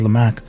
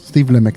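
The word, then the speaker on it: Steve Lamacq: lck is that it's pronounced okay I always pronounce it as lch no it's Steve lck the only reason I know is cuz there's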